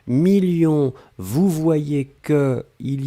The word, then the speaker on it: millions: s à la fin 2 millions on ne prononce pas le s mais il est là ensuite signature mais ici